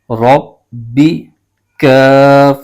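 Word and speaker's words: رَبِّكَ: زبر ہے، بغیر کھینچے پڑھیں گے۔ اس کے ہجے یوں کریں گے، را ب زبر رب، ب زیر بی، رب بی، کاف زبر ک، رب بی کا۔ آگے واو پر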